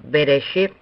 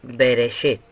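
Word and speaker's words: בראשית: Por lo tanto, reconocemos a Bereshit como una palabra con 3 sílabas.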